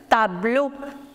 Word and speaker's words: tableau: The board, like this is a white board, so board is known as le tableau. Le tableau. Le tableau. By the way, the pronunciation of the combination EAU in French is O.